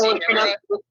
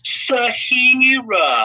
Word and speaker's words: Sierra: over this engine, and he can't pronounce the word Sierra correctly either. It's just Sierra 3. He always pronounces it as Sahira.